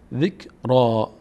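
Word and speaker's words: ذكرا: اول چطور تلفظ بکنیم کاف که ساکنه به همراه ذال باید خونده بشه ذک ذک زین نشه ذک ذک حالا این را می‌مونه و این یا این الف ذکرا را تلفظ همشون یک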